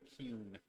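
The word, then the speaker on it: Qun: And it's pronounced I'm trying to- Kuhn, by the way. Kuhn.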